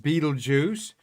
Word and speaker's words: Betelgeuse: going to talk about betelgeuse up there pronounced beetlejuice translating in arabic armpit